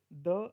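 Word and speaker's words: the: sound and consonant sound अगर ववे sound है तो दी बोलो कॉन्सोनेंट साउंड है तो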